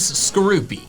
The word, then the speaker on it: Skorupi: Next is skroopy, and the official pronunciation is skroopy.